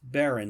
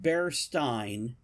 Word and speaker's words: Berenstain: It's Berenstain. Because they were a stain on society. Not Stein. What? It's not Berstein. It's Berenstain. Yeah.